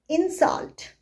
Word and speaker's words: insult: what is verb right so if a word is a verb and it has two syllables then the stress is always placed on the seconds syllable okay all right for example insult insult don't insult me